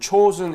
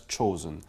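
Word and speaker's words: Chosin: And chosen is Japanese the pronunciation of Chinese character, which we read Changjin, and it was chosen.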